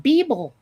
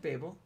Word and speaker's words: Babel: You said Beeble. No, I said Babel. That's not what it sounded like.